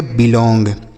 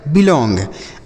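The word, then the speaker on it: belong: से हो गया बच्चों बी एल ओ एन जी को हो गया लॉन्ग तो इसे पढ़ेंगे बिलोंग ठीक है मेरे भाई बिलोंग आगे लिखा है इतना समझ में आया तो ओ एन जी को ओंग जैसे सॉन्ग इलोंग रॉन्ग स्ट्रांग बिलोंग आगे देखते हैं अगला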